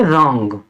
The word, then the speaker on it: wrong: में बताया था कि जब भी दो कॉन्सोनेंट के बीच में ओ आता है उसका उच्चारण ओ से करते हैं, ओ से, तो उसके लिए ये ओ है, और बिंदी, और एन के लिए ये बिंदी है, तो इसको हम पढ़ेंगे रॉन्ग।